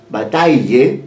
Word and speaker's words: Bataille: georges bate de plate se pronuncia bata bataille on your bate un